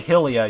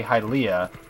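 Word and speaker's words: Hylia: pronounce it your way I can pronounce it my way doesn't matter because either way we know what we're talking about I can say hilia you can say halia and I know exactly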